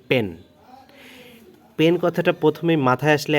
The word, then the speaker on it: Penn: কোম্পানিটা, যেটার নাম হচ্ছে পেন। মানে সচরাচর আপনারা বলতে পারেন যে ওয়ান অফ দ্য top fishing gear company in the world, সেটা হচ্ছে যে পেন। তো এই পেনের উচ্চারণটা কিন্তু পেন, PENN।